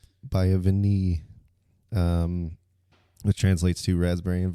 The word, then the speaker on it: Vanille: So this, Jacob's going to have to pronounce it for us. A resident French. Vanille. Vanille.